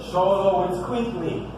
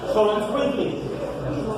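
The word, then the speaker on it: Xoloitzcuintli: Sholo, it's Quickly. So, say it. Faster. Even faster than that. Sholo, it's Quickly. Which is actually an Aztec word.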